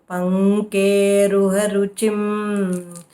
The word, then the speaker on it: पङ्केरुहरुचिम्: Panke, k should be full. Pankeruharuchim.